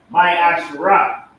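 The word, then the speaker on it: ma'aser: It means 10th in Hebrew and is pronounced my Asherah.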